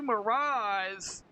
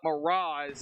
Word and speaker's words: Mraz: involved in this, Andrew Mraz. That is actually how you pronounce his last name. I call him Mraz. That's what I'm used to. So, but Mraz is how you pronounce it.